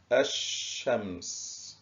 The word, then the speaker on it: الشمس: نلاحظ في الكلمة الأولى كلمة الشمس، لم ننطق اللام، إذن فإن اللام الشمسية لام تكتب ولا تنطق.